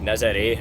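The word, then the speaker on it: Nazaré: Nazare, as Gemma explained to me it's actually pronounced, it's got really good facilities just on the outskirts of town.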